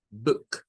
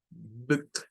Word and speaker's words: book: Para esa palabra, esa doble O suena a una U corta del inglés que tiene un símbolo que parece como una herradura, ¿verdad? O el símbolo de la omega. Book, book es el sonido. No es book, porque si se hace U, está haciendo otro sonido. Está haciendo el sonido largo. Y para esta conviene hacer un sonido short, un sonido corto.